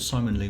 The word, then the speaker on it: Ximon Lee: I thought Simon Lee was great, who's a young designer from New York, and he did a little presentation. Don't think we have pictures of it. It's spelled Ximon Lee.